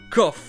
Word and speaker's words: cough: Par contre, il y a bien un mot qui se prononce avec off. Et c'est là notre septième prononciation. Cough, une toux.